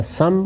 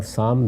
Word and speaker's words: سام: یافس دونوں تلفظ ہیں، اسی طرح سم اور سام دونوں تلفظ ہیں۔ ان کی اولاد آگے